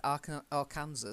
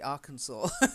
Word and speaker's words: Arkansas: you up I mean at one point even I said Arkansas because I didn't know it's actually Arkansas so it must have been written by an American because I'm an American kindly pointed out to me actually it's Arkansas it's really I'd like